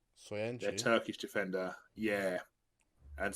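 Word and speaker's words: Söyüncü: How do you pronounce his name? Soyuncu.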